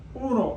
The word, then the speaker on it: uno: s s s Uno Uno like the card game Uno un qu quro quatro